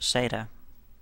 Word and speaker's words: SATA: hard drive controller is called Serial ATA or SATA sometimes pronounced SATA a SATA controller speed